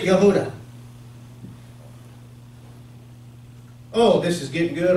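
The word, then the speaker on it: יהודה: The Father's name is Yod-Heh-Wah-Heh, and Judah is Yod-Heh-Dalet-Wah-Heh, and they pronounce it Yehuda.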